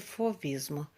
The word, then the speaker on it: fauvismo: que eu fui rista a grafia se escreve fauvismo mas a pronúncia forista é o movimento de